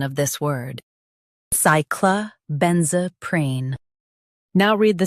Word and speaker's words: cyclobenzaprine: Focus on ben and keep z smooth. Cyclobenzaprine.